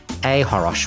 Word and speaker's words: achoros: They can find me on Threads or on Instagram at ahoros, which is ACHOROS. The C is silent.